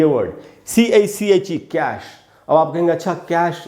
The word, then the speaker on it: coup: ये इसमें P silent है, COUP, खू पढ़ेंगे, कू, कूप नहीं पढ़ेंगे, कू।